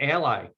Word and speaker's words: Ally: to you every day learning ally or ali depending on how you want to pronounce that is where you students